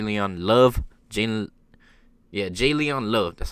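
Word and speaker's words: J'Leon Love: on the floyd j leon love jane yeah j leon love that's how you pronounce it saying talking a lot smack to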